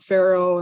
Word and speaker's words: Pharaoh: Pharaoh, unless you know that PH makes an F sound, you wouldn't know that how to read that.